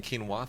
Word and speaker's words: quinoa: thing oh yeah quinoa oh is that the one that's spelled like quu i n o something quinoa yes Quin heard so so let's start over so Mark I figured it was like Quin I just figured it